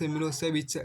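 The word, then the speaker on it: Milošević: A narrow-minded Serb nationalist Milosevic pronounced Milosevic had won the election.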